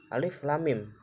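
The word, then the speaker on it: الم: memplot ayat Mujhse fawatihus-suwar untuk membacanya itu tidak seperti membaca kalimat-kalimat lain yaitu dengan membacanya perhuruf sekali ini Alif dibaca alif lam dibaca Lam Mim juga dibaca mim Alif Lam Mim Alif Lam Mim cara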